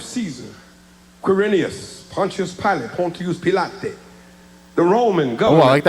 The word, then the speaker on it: Pilate: The government in this text comprised of Caesar, Quirinius, Pontius Pilot, Pontius Pilate, the Roman government. I like that pronunciation.